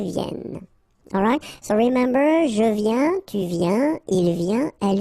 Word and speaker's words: viens: Je viens. Final S not pronounced, okay? When you combine this IEN, you get this yen, yen.